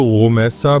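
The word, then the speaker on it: Rumaisa: इनकी प्रोनाउंसिएशन में कई लोग इनको रोमसा पढ़ते हैं गाइन से और कई लोग र से जो है वो रोमसा लेकिन ज्यादा जो नरेशंस है वो रॉ से है रूमसा मलहान ही इनका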